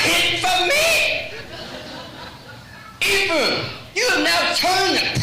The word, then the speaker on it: Ephraim: Ephraim.